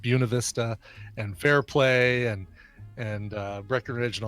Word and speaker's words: Buena Vista: Buena Vista, which is spelled Buena Vista but pronounced Buena Vista, and Fairplay and Breckenridge and all these.